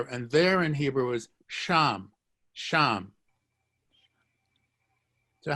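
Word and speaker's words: שם: can have there and there in hebrew is sham sham so how would you say i there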